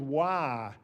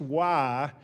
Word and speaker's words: WAR: presentation on something called wah which is spelt war but is pronounced wah and why is Wins